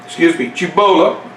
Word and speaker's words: Cibola: Now Cibola, pronounce it correct, was to the north.